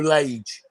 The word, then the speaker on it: Lage: Bruno Legay, or Legay, whatever you want to pronounce it, or Laggy, like a Laggy band. Well, it's age, isn't it? It's age with L. So Bruno Lage.